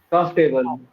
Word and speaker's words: comfortable: R is silent here. Yes, It, OR is not pronounced. It's not silent exactly, but it's not pronounced properly. Comfortable. comfortable. No. Comfortable. Comfortable. Comfortable.